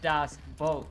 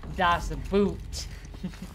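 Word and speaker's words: Das Boot: like so it's spelled b t but it's pronounced dobat do not say dos boot that's all I remember out again maybe I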